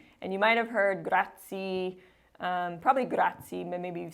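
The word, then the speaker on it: grazie: this one gra and you might have heard gratzi um probably grai maybe you've seen The Godfather and then that's how they say it in the movie the technical pronunciation is grati so another note when you're in Italy you're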